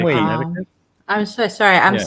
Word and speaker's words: Connecticut: Alyssa Bentley has confirmed Glastonbury in Connecticut. Why the hell do they spell Connecticut that way if they're not going to pronounce that C?